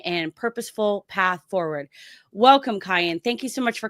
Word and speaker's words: Kayin: the folks out there, curious about the pronunciation of my name, it's Kayin. Kayin. Why did you correct me before we got started? No worries at all. I love when people say cayenne because they like to